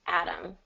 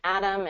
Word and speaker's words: atom: okay yes okay so Adam gonna be like this Adam so it's the same pronunciation as like the name Adam Adam okay yes yeah so it's the same same pronunciation atom and atom you know Atomic now